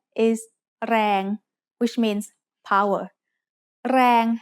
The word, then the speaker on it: แรง: แรง has a low-class consonant and a live ending, so it is pronounced mid-tone.